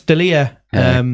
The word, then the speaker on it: D'Elia: people noticed early yet it's D apostrophe e Li air but if you put it in were rowdy apostrophe just de li yeah yeah yeah we'll